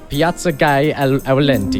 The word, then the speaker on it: Piazza Aulenti: Piazza Aulenti.